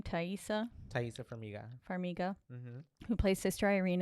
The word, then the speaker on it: Taissa Farmiga: Taissa Farmiga.